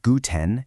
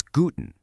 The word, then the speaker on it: guten: Try practicing these greetings out loud with me, and notice how the stress almost always falls on that very first syllable. It's not guten, it's guten.